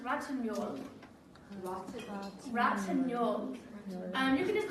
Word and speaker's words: Ratignolle: Adele, her last name is pronounced Ratignolle.